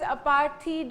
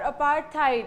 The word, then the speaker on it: apartheid: So ये chapter जो है ये इसकी जो थीम है इस चैप्टर की विच इज़ अपार्थीड और अपार्थाइड, आप इसे किसी भी तरीके से प्रोनाउंस कर सकते हैं.